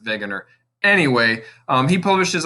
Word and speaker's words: Wegener: named alfred wegener uh it's a w but he's german so you could pronounce it wagoner but he would pronounce it veganer anyway um he published